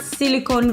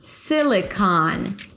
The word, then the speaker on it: Silicon: It's not Silicon Valley. Silicon. Primary stress on the first syllable sil. And then it's the as in father. Although there is an o here, it's actually an aon.